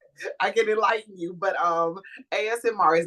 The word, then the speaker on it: ASMR: Like you hear them chopping, and they said it was MSR, AS. AS. Now you got me saying it wrong. ASMR.